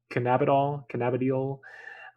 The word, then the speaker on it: Cannabidiol: that would be infused with, how do you pronounce it? Cannabidiol.